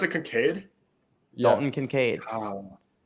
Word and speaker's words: Kincaid: Is that how you pronounce it, Kincaid? Dalton Yes. Kincaid.